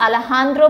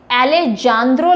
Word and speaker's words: Alejandro: Answer is Mexico's Alejandro Prieto. ये Alejandro लग रहा होगा आपको, लेकिन इसको Alejandro प्रोनाउंस करते हैं, Alejandro Prieto, और ये पिक्चर है जिसने Bird Photographer of the Year Award जितवाया है इनको।